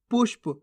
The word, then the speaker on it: पुष्प: अपना आप सीखते जाओगे पुष्प कैसे पढ़ेंगे पुष्प पुशप नहीं पुष्प ख्याल कैसे पढ़ेंगे ख्याल